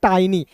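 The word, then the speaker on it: tiny: देखिए टी आई एन वाई इसे टिनी नहीं पढ़ते दोस्तों। इसे पढ़ते हैं टाइनी।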